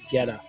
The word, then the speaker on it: Guetta: David, and I'm going to pronounce it Guetta.